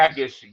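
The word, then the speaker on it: Jacas: Gabe, is it Jacobs? Gabe Jason? Yakis. Gabe Yakis. Yes.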